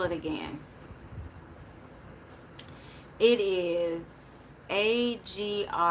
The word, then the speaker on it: Agrimony: It is A-G-R-I-M-O-N-Y. Agrimony, I think, is how you pronounce it.